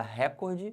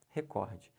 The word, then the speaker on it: recorde: o meu recorde recorde se você falar recorde você tá errando o certo é recorde primeiro como é que